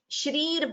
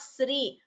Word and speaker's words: श्री: It is shri, not sri. In some languages, I think like Telugu, the sha is pronounced as sa or something like that. But in Sanskritam, it is sha.